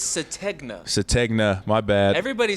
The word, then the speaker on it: Sategna: It's Sategna. Sategna, my bad. Everybody says everybody started to say like Satenga or Sategna. it's Sategna.